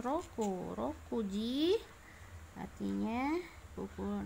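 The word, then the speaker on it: 六: Ini roku ya, secara Ongyomi roku ya, secara Kungyomi dibacanya mutsu.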